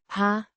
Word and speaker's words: har: har, Means have, pronounced har, with a short a, sound like in hat.